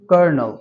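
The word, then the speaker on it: colonel: it's so simple my dear father I usually pronounce this as kernel yes you are absolutely correct Now pronounce this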